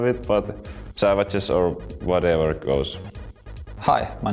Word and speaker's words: Savjz: Well, I don't really care how it's pronounced, because it's not like a Finnish word or anything like that, so it doesn't actually mean anything. So Savjz is how I would like prefer to have it, but Savjz or whatever goes.